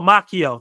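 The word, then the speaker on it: Macchio: proper uh pronunciation for me Ral maio has pronounced my makio oh makio thank you thank you for that makio plot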